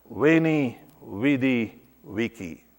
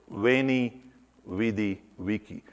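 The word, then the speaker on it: Veni, vidi, vici: and conquering it without an difficulty he said wainy vidi vici V the Latin v2 pronounced as W so wainy vidi vici I arrived from venue where you arrived with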